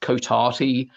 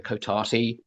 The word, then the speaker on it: Cotati: sentient plants, sentient trees called I think it's pronounced Cotati.